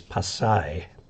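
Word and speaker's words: Pasay: I in tagalag um there's a city south Manila called pasai and all the American X Pats there call it P but it's passai um let's see Chris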